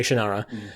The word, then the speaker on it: Shannara: had read the first Shannara book or Shannara however you want to pronounce it um my dad said shinara so I say shanara um so but I